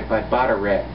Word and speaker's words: Bataireacht: And this is inspired by Bataireacht. It's spelled B-A-T-A-I-R-E-A-C-H-T.